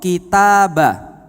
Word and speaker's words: kitab: Contoh, kitabah. Kitabah itu kalau ba-nya dikasih sukun bacanya jadi kitab. Diem. Kitab. Enggak pakai a-nya lagi karena sudah diem.